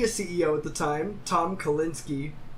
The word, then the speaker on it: Kalinske: The Sega CEO at the time, Tom Kalinske, I'm assuming that's you pronounce the E.